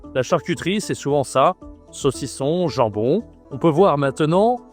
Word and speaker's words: saucisson: Prononciation toujours le nasal qu'on voit partout, hein. Le saucisson.